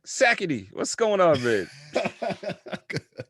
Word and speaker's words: Sackitey: that's how a guy level would be like sakety what's going on babe it's sackety but you